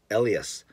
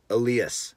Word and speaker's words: Elias: don't say Elias and I'd like to put the emphasis on the first syllable ie like this Elias or alias not aleus or Elias I hope that makes